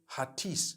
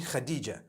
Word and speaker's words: Hatice: In Turkish, some people spell it HATICE. I would say Hatis for that. No, it's actually Khadija.